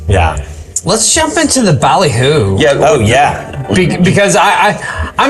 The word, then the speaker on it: Ballyhoo: Yeah, and I like how during our bottle review on this one here, we totally mispronounced it. Ballyhoo, it's actually ballyhoo. Bally. Bally. Like ball glassware, ball jar, Ballyhoo is yes a fish.